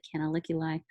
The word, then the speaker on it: canaliculi: canals are called canaliculi can I lick your eye if that helps you to remember that it's not spelled that way but if it helps you remember how to pronounce it canaliculi they are all of